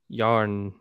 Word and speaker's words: Yharnam: How do you pronounce it? How do you spell that? Yharnam. Yharnam. It's like Putnam. Yeah, Putnam. Yeah, exactly.